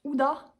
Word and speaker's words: Huda: H, qui finit par un A, qui se prononce Huda.